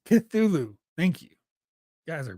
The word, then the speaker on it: Cthulhu: Cthulhu is pronounced Cthulhu.